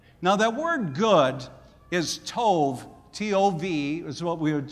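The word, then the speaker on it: טוב: Now that word good is tov, T-O-V is what we would spell it in the English alphabet.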